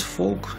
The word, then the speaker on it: Valk: 3-м сразу определимся кубик я буду называть walk так как это написано на упаковке я прекрасно знаю что масса фолка зовут макс фок именно так произносится его фамилия но я не являюсь